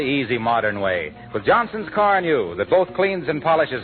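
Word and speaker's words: Carnu: And of course, do it the easy modern way, with Johnson's Car New, that both cleans and polishes in one application.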